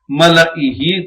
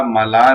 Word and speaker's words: ملائہ: بھی وارد ہوا ہے۔ یہ سب جگہ ملائہی تلفظ کیا جائے گا، ملا نہیں پڑھا جائے گا۔ اسی طرح سورہ